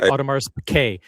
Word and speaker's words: Audemars Piguet: Audemars Piguet. The emphasis is on that second syllable.